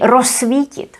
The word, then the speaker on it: rozsvítit: And here, because the z and s are together, this would be pronounced as s. We pronounce it as just one s. So we say rozsvítit, rozsvítit. We don't say rozsvítit or rozsvítit. We just say rozsvítit.